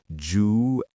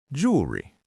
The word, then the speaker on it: jewelry: Most people say jewelry. Correct pronunciation, jewelry. Jewelry. Just two smooth parts, not three.